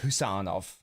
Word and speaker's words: Khusanov: How do I pronounce it, then? It's just Khusanov.